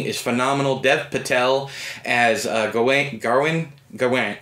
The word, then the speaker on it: Gawain: Dev Patel as Gawain. I've always said it Gawain, but I think it's actually Garwin, because that's how they pronounced it in the movie.